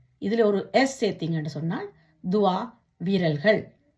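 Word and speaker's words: toit: இதுல ஒரு எஸ் சேர்த்தீங்கன்னு சொன்னால் துவா, விரல்கள்.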